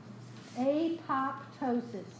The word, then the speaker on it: apoptosis: can write it how do you want to pronounce that a pop ptosis does that sound right to you it dozens